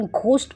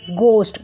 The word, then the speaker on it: ghost: This is नॉट घ, बहुत सारे उसका प्रोनाउंसिएशन घोस्ट करते हैं, बट इट इज़ नॉट घोस्ट, इट इज़ गोस्ट, गोस्ट भूत।